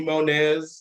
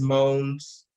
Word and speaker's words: Monez: as people call me Monez, and it's Moans, but I don't Well, correct I always thought it anybody was because I'm Monty.